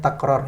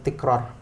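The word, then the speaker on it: تكرار: Ya, yang benar pengucapannya takrar ya, bukan tikrar.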